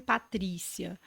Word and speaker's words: Patrícia: o meu segundo nome Patrícia Então tava lá eu sempre achei eu até porque a sílaba forte é o tri né Eu sempre eu achava